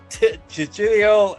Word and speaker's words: Chiwetel: What is the theme of, excuse me, sir, how do you pronounce that again? It's Chichilio Ejiofor.